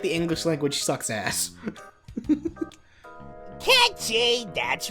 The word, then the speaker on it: Cait Sith: Like saying it as Cait Sith is saying it phonetically. It is pronounced Catchy, and I will fucking fight anybody who says otherwise.